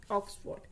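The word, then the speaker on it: Oxford: फिर यहाँ आर हम देखेंगे किससे पहले है, आर कॉन्सोनेंट से पहले है, तो आर का होगा नहीं प्रोनाउंसिएशन, आर आएगा भी नहीं, फोर्ड, ऑक्सफोर्ड। ट्रेन, ट्रेन तो काफ़ी इजी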